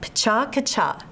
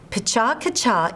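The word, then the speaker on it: PechaKucha: I spoke earlier of Pacha-Kacha. That's spelled P-E-C-H-A-K-U-C-H-A, which means chit-chat, Japanese style.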